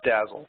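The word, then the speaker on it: DASL: And so we've developed something that we call Blazegraph Dazzle. So it's D-A-S-L, and we pronounce it Dazzle.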